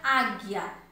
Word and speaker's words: águia: Na palavra águia, águia eu pronuncio, eu escrevo A-G-U-I-A, águia. Mas eu pronuncio o U aí? Não.